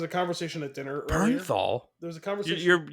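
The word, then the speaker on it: Bernthal: John Barrenthal. Is that not right? Not exactly. What is it? You added an extra e in there. What is it? Burnthal.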